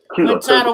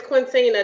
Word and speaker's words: Quintina: Quintana Waters, what's up, Quintana? She said, "Hey, sister." No, it's Quintina. That's me and Tina been friends for since like Quintina. I'm sorry, I mispronounced her name. It's Quintina.